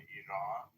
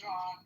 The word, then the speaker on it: Iran: out of this is Jack pronouncing Iran exactly as an Iranian would. Oh, thank God. This is one good positive thing. Why is it correct for Iran? He's saying Iran, not Iran.